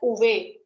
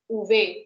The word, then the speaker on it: uve: Now if you could see, V is pronounced as uve, uve. But again the root sound will be va only, uve.